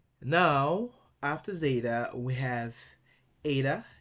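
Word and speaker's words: ήτα: Now, after zeta, we have eta. Eta is pronounced like A in they obey.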